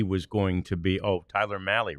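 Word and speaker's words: Mahle: Um I've thought, you know, that it looked like he was going to be Oh, Tyler Mali rhymes with rally.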